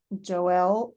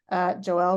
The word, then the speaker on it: Joelle: I'm delighted to introduce Joelle Joelle rhyming with Noel I uh um I